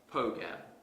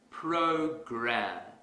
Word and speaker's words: program: to our previous example suppose I pronounce this word as poker that's incorrect because the our sound is missing if I want to fix this mistake quickly I will exaggerate the R sound program program program here's another